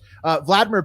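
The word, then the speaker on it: Volodymyr: In response to that, Ukrainian President Vladimir Zelensky, it's really just Vladimir is how you say it. It's just spelled totally different with 2 O's.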